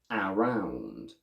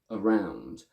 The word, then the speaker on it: around: full sounds i say around the correct version is around with the first a going from a to schwa around around item becomes